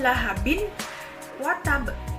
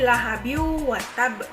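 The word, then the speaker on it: لَهَبٍ وَتَبَّ: Jadi bacanya lahabiu, dimasukkan, bukan lahabin wa tab. Salah. Jadi lahabiu wa tab.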